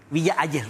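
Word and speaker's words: Villa Hayes: ¿cómo solés decir? Villa Ayes, así rápido.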